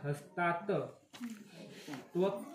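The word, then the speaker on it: हस्तात्त्वक्: आता इथं गांडीवमसते हस्तात तो जो डबल त आणि व असं जोडून आहे तर त्या दोन त पैकी एक अलीकडे येणार हस्तात त्वक्ष चैव परिदयते त्वक्ष चैव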